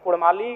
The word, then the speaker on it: कुड़माली: मांग करता हूं कि र के स्थान पर अड़क किया जाए क्योंकि कुड़माली साहित्य की बात करें तो अड़ का महत्त्वपूर्ण स्थान है जैसे काड़ा माड़ भेड़ा पीड़ा डाढ गौड़ मोड़ ये उच्चारण केवल कुड़माली साहित्य में ही संभव है अभी अगर इसका आप